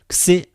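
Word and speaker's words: Ξ: Xi, okay, the different forms you see. Capital letter like this and small letter like this. Xi. You may call it, if you like, it is double consonant. I mean two consonants together in this letter. One is K, one is S. Of course, the K in Greek is G, it's not K, and S.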